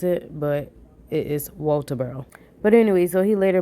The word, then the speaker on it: Walterboro: 28, 1986, out of Walterboro, South Carolina. And excuse how I said it, like it's really pronounced Walterboro, South Carolina.